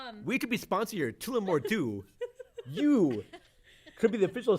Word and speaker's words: Tullamore Dew: Tullamore Dew.